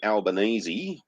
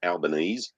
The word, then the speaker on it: Albanese: yeah, and then we got fucking Aunt Fanny Alpha Conde Albanese, which is how you actually pronounce his name, not Albanese, or elbow on his kneesies, because he likes to suck dick, the cunt.